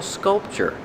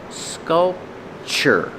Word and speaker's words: sculpture: And this is a beautiful sculpture. Pronunciation sculpture. The tu is pronounced with the chch like chicken. Sculpture. Sculpture. This is a beautiful sculpture.